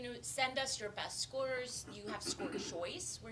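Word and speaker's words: SCOIR: good question so there's so score and it's spelled s-c-o-i-r which is a little confusing that is a platform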